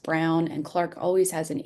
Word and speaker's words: Braun: and it is pronounced Brown and Clark always has an E, but Brown